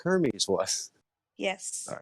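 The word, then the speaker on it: Hermès: in the commerce but hermes is also like a clothing line like a very expensive clothing line wait hold on i thought it was called her maze it might be but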